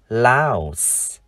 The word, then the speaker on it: louse: Và từ con cháy, chúng ta đọc là louse. Phụ âm cuối chúng ta phát âm là s.